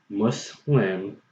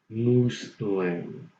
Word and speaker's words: Muslim: word mus li n its must not muss that moose not was not much but must and so therefore the current pronunciation is muslim not moose blame must swim not moose when must swim not loose when okay so anyways that's